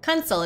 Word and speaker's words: Kunsel: Kunsel is how pronounces it.